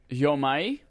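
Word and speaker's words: Jo-Mei: Yomai is how the person from the studio actually pronounced this name. Yomai Games versus Jomei and Jomai are 2 other ways that people said it.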